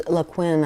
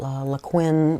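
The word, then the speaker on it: Liquin: lot of people use laquin I think that's how you pronounce it uh Li IQ Q UI in um it's a gel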